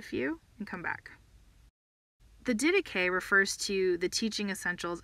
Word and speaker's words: Didache: People look at the way it's spelled and they think it should be pronounced Didache, but it's not. It's Didache.